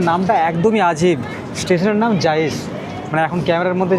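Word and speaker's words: Jais: এখন ক্যামেরার মধ্যে যে জায়েসের লেন্স দিয়েছে না সনি তরফ থেকে এই জায়েসের স্পেলিংটা হচ্ছে আলাদা জে এ আই এস কিন্তু উচ্চারণটা যে আছে সেটা হিনিতে লেখা আছে দেখছি এখানে সেম জায়েস এখন কড়িকাটে বাজে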